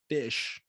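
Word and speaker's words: ghoti: know what i saw what that song is pronounced fish what it blew my mind because they took it's like apparently a thing so if you take the the gh sound from enough the o sound from women and the ti sound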